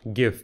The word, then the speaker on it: GIF: it's adding factual data it's pronounced GIF like gift not like giraffe so it's not a